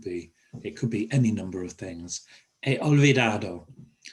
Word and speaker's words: he olvidado: He olvidado. Don't pronounce the H, it's not he or he olvidado, he olvidado.